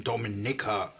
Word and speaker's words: Dominica: this ad and this fell and he's saying Dominica. It's not Dominica, it's it's not Dominica, it's Dominica uh pronunciation and cross your teas and dot your eyes.